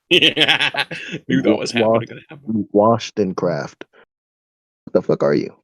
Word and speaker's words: Wollstonecraft: You say your name is Washington? Wollstonecraft. Wollstonecraft. Wollstonecraft. Yeah, Wollstonecraft. Wollstonecraft. Please say it correctly, or I'm not going to help you. Craft. Wall. Wall. Stun. Craft. Wollstonecraft.